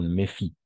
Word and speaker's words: méfient: Méfie, ENT a la fin, no pronunciamos.